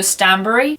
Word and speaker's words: Stanbury: I know you don't pronounce it like Barry, so Stanbury.